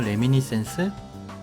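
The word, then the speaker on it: Reminiscence: 레미니신스 오케이 예 그렇게 레미넌스 뭐 그렇게 읽으면 된대요 레미니센스 그렇다고 합니다 뭐냐 아이 아쉽다 이거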